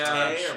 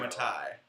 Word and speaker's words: Mattei: Yeah, Mattei sure. or Matai. Matei. Mattei. Oh It man. rhymes with okay. Just like a George Takei.